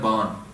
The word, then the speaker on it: baan: He goes, Akhri Likhan Bolan Ban. By this lekha, by our destiny, are we able to Likhan Bolan Ban. That Ban has a Sihari which you don't pronounce. It's referring to Bani.